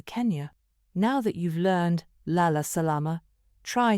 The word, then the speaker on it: Lala Salama: Here's how to say goodnight in Swahili: Lala Salama (pronounced Lah-lah Sah-lah-mah) "Lala Salama" is a warm and friendly way to say goodnight in Swahili.